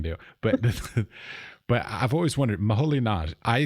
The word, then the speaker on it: Moholy-Nagy: Well, Budapest in Hungary I can do, but I've always wondered, Moholy-Nagy, I say Laszlo Moholy-Nagy. Am I correct? Is that the right pronunciation?